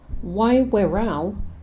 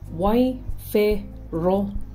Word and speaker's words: Waiwhero: It's not Waiwherau. Try Waiwhero instead.